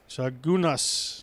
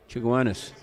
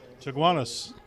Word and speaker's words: Chaguanas: It bounces, but stays alive for Edund George from Chagunas, Trinidad, and Tobago, which I've probably mispronounced. Chaguanas. Chaguanas. Thanks, Tim.